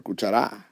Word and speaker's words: cuchara: up if they cuchara we pronounce a cuchara or cuchara okay we say cuchara the voice naturally goes right there therefore if it follows